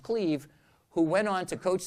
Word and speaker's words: Clive: guy named Cleve Rush, spelled Clive but pronounced Cleve, who went on to coach the Patriots and have a nervous breakdown.